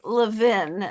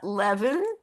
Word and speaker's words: Levin: I should add that I pronounce my name Levin, not Levan.